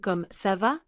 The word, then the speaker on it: comment ça va: Did you hear how comment ça va become almost comme ça va? They drop the NT.